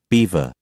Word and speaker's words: Belvoir: Rutland invited him to Belvoir Castle which clous told him gentleman pronounce Beaver but his desire to